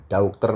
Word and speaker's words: daughter: ya That's my little daughter dater itu bacanya Daughter ya guys ya daughter dater tapi kalau karena diapit suara o sama e berarti daughter daughternya jadi D daughter my little daughter